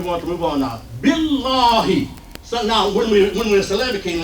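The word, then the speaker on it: بالله: Billah. So that long word then goes like this. Bill. And then the next syllable is what? Law. Billah.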